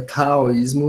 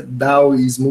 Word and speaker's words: daoísmo: Então, se fosse contexto, a gente falaria taoísmo, não é exatamente essa a pronúncia, vai ser daoísmo mesmo, é um D mais seco, mais curto, sem tanto ar saindo, ou melhor, sem ar saindo.